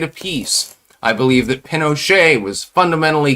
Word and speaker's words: Pinochet: uh, interesting historical fact, nobody knows technically whether it's properly pronounced pinocha or pinochet. It was never confirmed or denied by I call him pinocha. Um, I'm assuming that's the pronunciation that would be preferred.